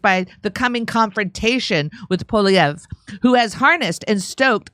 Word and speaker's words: Poilievre: How do I pronounce it? Poilievre. I was so close. Poilievre.